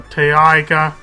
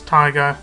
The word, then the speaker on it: taiga: You can see you start between a taiga biome, or taiga. People don't like how I pronounce taiga, but it's T-A-I-G-A biome, and a swamp biome.